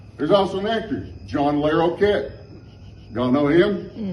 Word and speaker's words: Larroquette: say brick yet there's also an actress john larroquette y'all know him not court dating myself again t t l-a-r-r-o-q-u-e-t-t-e people being pronounced john o'learo cat brickhead but for some